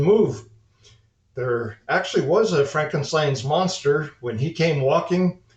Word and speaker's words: Frankenstein: up like Dracula instead Frankenstein's Castle or rather Frankenstein's Castle the German pronunciation Jump Ahead a few years we were stationed in Germany when we heard about Frankenstein's castle and it was